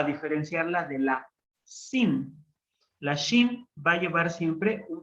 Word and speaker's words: shin: Vamos a tener ahora, entonces, la consonante shin, que se hace doble. La shin la podemos pronunciar como sh, sh, como cuando decimos que alguien se calle, que alguien guarde silencio. Y entonces decimos sh, shin, sh.